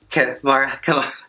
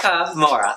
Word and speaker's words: Kahmora: My favorite was, again, KAHMORA. You said her name wrong. KAHMORA.